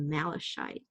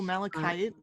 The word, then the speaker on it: malachite: look on their website it's called malashite i think oh malachite malachite malachite yeah maybe not i